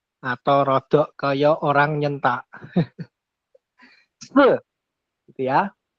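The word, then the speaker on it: 四: Sekali lagi kalau 4 itu tidak pakai H, SE aja dengan nada yang agak ditekan. Se.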